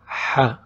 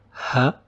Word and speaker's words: ح: H. H. It's not H like H. It's just a little sharper. This sound is not in English. Just try to make it sharp.